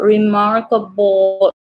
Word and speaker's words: remarkable: So remarkable, the tongue doesn't go up for this one.